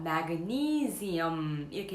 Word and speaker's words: magnesium: 영어 발음으로는요, magnesium 이렇게 읽어주시면 됩니다. 그래서 니의 강세가 들어가고요, zium입니다. 그래서 magnesium 이렇게 읽어주시면 되겠습니다.